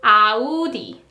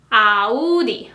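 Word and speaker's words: 아우디: In Korean, it is Audi. Audi. 3 syllables.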